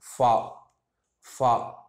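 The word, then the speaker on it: فاء: இது ஃபா, இங்கிலீஷில் இருக்கக்கூடிய எஃப்டைய உச்சரிப்பை ஒத்து வரும். ஃபாங்கிற உச்சரிப்பில் இது வரும். ஃபா ஃபா.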